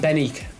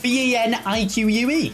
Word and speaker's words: Benik: Benique. It's Benik. That's how you say his name, you idiot.